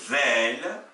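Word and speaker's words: ذال: Quatrième paire de lettres, on a la lettre zel, qui est l'équivalent du the anglais, le the de this, qui s'oppose à la lettre va, vous voyez, qui ressemble au ta.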